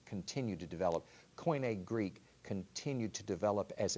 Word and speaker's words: koine: Koine, yes. Koine. Yes. Okay. How do you spell that?